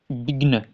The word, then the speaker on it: विघ्न: तो यहां शब्द है विघ्न विघ्न विघ्न विघ्न ऐसे नहीं पढ़ेंगे आप विघ